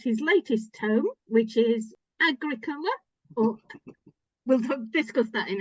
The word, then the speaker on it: Agricola: in in Latin it would it would be Agricola um so it's that's a Agricola is probably the closest angli sized version um you'd be surprised how many people call him agric Cola though uh a friend of mine in York